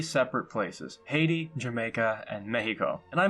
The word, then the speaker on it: Haiti: The first one, Haiti, was probably the most harrowing of the bunch, I would say. It's pronounced I-T.